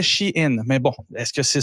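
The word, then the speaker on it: Shein: qui s'appelle she in que j'ai appelé longtemps Shine parce que ça s'écrit en un mot c'est in c'est je je meis fait dire que c'était ch in mais bon est-ce que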